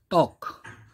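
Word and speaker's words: talk: और यह है टॉक, टॉक, इसमें भी कौन सा साइलेंट है, देखिए टॉक, एल की साउंड नहीं आ रही, तो साइलेंट लेटर कौन सा है, एल, राइट।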